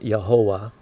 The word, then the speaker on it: Yahovah: Before I continue on, the Hebrew prints the name Yud-He-Vav-He. I'm choosing to pronounce that Yahovah.